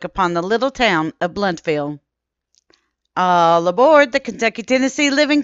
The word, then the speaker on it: Blountville: mountains, the town of Blountville is sometimes called Blountsville. The OU sound is not pronounced like in the word house or house, and the O is silent.